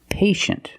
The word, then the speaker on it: patient: With patient, we see T-I-E, making the sh sound. Patient. The first syllable is a long A, like day and pay, pay, and shin. The second syllable is a closed sound. Sh, sh, shin.